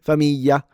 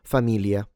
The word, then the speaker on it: famiglia: Famiglia, rather than famiglia.